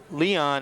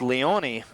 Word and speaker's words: Leone: we go any further i was calling dante leon his name should be pronounced leonie so 84 dante leone